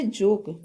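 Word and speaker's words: joke: ओ है नेक्स्ट है जोक जोक मीस मजाक इसमें भी ई साइलेंट है जे ओ के ई जोक जोक मींस मजाक तो ई साइलेंट है के कॉन्सोनेंट है कॉन्सोनेंट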